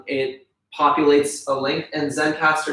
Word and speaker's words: Zencastr: Zencastr, online tool. Basically, it populates a link, and Zencastr is spelled Zencastr. There's no E.